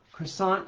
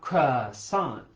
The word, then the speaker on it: croissant: Croissant is not it's not croissant, it's croissant.